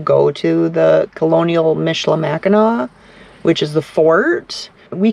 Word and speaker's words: Mackinac: now Mackinac Island is has an AC at the end but it's still pronounced we see some people that pronounce it Mackinac it's not a Mackinac it's not Mackinac and